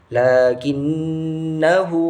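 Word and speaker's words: لَٰكِنَّا: Nah, pada bacaan lakinnahu itu harus dibaca pendek ketika ingin wasol atau dilanjutkan. Lakinnahu, akan tetapi ketika ingin wakof atau mau berhenti, jadi cara bacanya harus dibaca seperti matabi'i, halnya matabi'i. Lakinna.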